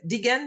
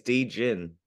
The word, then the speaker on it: Degen: It's It's apparently it's degen den because it's degenerate.